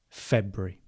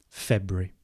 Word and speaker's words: February: So if you do want to pronounce it like me, which you might not want to, but if you do, February. February. F-E-B-R-E-E.